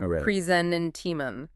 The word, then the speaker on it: presentiment: Address pronunciation. Presenant.